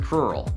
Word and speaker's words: crural: has enormous shins, and he probably lives in a rural area, which rhymes with crural.